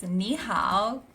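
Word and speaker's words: 你好: It's nihow.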